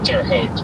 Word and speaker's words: Terre Haute: Terre Haute, excuse me.